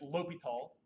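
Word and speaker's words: L'Hôpital: this old French a hospital thing but it's pronounced low be tall french dude found out how to take the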